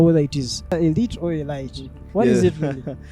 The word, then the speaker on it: Elite: it is Elite or Elite what is it the right pronunciation is Elite High School yes how about those that say it as aite well we would know that you an outsider what is Elite High